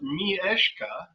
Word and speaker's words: Mishka: of the flu and Mishka which is pronounced me ishka it was very kitten